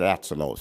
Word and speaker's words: Atzelos: He pronounces it Atzelos, so Hungarian name, difficult, but forgive me if I mispronounced it.